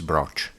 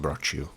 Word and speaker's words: brocciu: Actually, the correct pronunciation is broch, not brocciu.